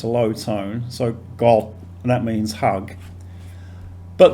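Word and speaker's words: กอด: g o t and it's pronounced with a low tone that's because this initial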